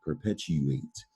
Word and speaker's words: perpetuate: you doesn't it perpetuate so remember that when you says you you say perpetuate actually sounds like 2 8 doesn't perpetuate but it's per pet u8 and this word originates